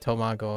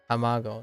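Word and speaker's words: たまご: how tamago I I I think I said tomago again tamago yeah that's fine yes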